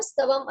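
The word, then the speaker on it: स्तवम्: नहीं, कर तुम स्तवन यहाँ पर आएगा ना, स्तवम आएगा।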